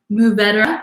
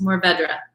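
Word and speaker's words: Mourvèdre: and in southern rome move better is how that grape is pronounced like moo like a cow says like swallow the d-r-u-h um or just more bedra um you can even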